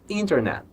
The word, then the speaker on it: internet: Essa palavra, internet. Internet. O último som é de T. Não pode ser internet.